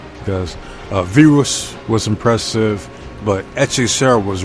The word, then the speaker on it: Virus: It's spelled virus, but I like the way they say it in Spanish, Virus.